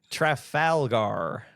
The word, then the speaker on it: Trafalgar: It's probably like a Fathom event where it was like I know it's technically through How do you pronounce that? Trafalgar.